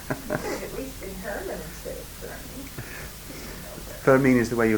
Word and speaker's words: Fermin: The true pronunciation is Fermin.